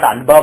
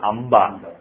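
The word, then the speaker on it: अम्बा: So if you have, for example, Amba, if you write like this, it's basically not Anba but Amba. You pronounce Ma.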